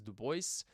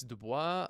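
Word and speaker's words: Du Bois: Most people pronounce his name as Duboce. Uh it's Dubois.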